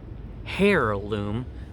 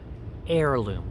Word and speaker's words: heirloom: students are very important the letter h in heirloom is silent you do not pronounce the H it's not heirloom but heirloom like the air we